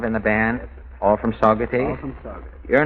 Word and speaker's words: Saugerties: Is that pronunciation right? That's right, Mr. Allen. Saugerties? That's correct.